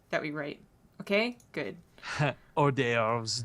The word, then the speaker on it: hors d'oeuvres: Hors d'oeuvres don't have an H in them.